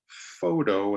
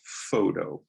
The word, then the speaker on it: photo: bit faster here so in this word photo photo a two-syllable word you stress the first o photo but the profession photographer